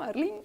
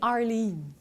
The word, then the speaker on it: Arleen: J'ai bien prononcé ton nom, Arline? Ben oui. Ben, moi, j'accepte toutes les versions de mon nom. OK. Ma mère a dit Arline parce que ma mère était anglophone.